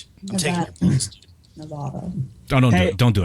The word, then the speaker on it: Nevada: I swear to Christ, Pi, if you don't start saying it right, we're going to have issues again, dude. I invented the word. It's Nevada.